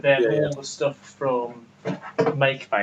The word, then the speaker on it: Make: But they're all the stuff from Make, not fucking Mackie. It's Mackie. It's not. It's Make. It's Mackie. It's spelled differently. It's Mackie. It's Mackie is Mackie is MAKI. Yeah. And this is spelled MAKE. Yeah. Like make. I'm guessing it's make for fuck's sake.